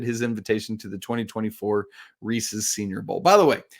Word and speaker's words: Reese's: somebody was like bro it doesn't say Reese it's Reese's belongs to Reese Reese's I I get it